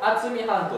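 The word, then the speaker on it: 渥美半島: は豊川の水を厚み半島と読みます厚み半島に引い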